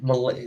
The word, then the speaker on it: Mulet: Oh, Malay. The T is silent. Okay. Yeah, people say mullet all the time, and it's just so annoying.